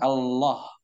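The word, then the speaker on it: الله: Nah, jika Allah.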